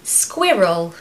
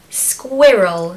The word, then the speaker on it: squirrel: I love them so in order to pronounce this word we need the very simple sound of squ I know you can